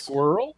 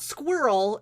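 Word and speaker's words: Skorl: Squirrel? It's not Squirrel, it's Squirrel.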